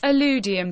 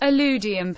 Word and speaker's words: illudium: the earth with his illudium q-36 explosive space modulator sometimes pronounced aludium pu-36 or uranium who 36 Marvin always laborious Lee